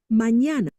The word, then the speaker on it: mañana: mañana, But then when we add the squiggly, right, the tilde, that's when it becomes like a NY, like canyon.